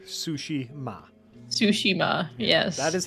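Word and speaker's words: Tsushima: The way I have heard it is like the food and your mother. Sushi ma.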